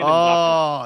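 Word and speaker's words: Mbappé: Yeah, Kylian Mbappe.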